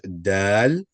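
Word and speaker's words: دال: The name of the letter is dal and the sound this one's going to make guys is da da.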